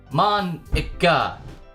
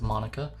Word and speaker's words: Monica: right in your name Mona that's not how you say my name at all says Monica also that jok makes